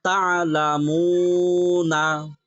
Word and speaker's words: تعلمون: করলে تعلمون তা'লামুন تعلمون তাহলে অক্ফের ক্ষেত্রে শেষ হরফের হরকত অর্থাৎ জের জবর পেশ উচ্চারণ হয় না কি হয় না জের জবর পেশ উচ্চারণ হয় না যেমন তা'লামুন تعلمون এখানে নুনের উপরে যে জবর এই জবর উচ্চারণ হয়েছে জি না। হয় নাই।